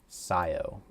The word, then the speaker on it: Scio: Scio. Got it. That's what it was. I remember there's a silent letter in there. It's the C.